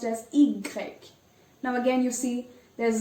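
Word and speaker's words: i grec: x is x 4 0 fern y is pronounced as igreg now again you see there's a sound you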